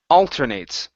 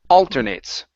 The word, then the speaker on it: alternates: here for you is alternates the stress is at the very beginning alternates alternates good all right nice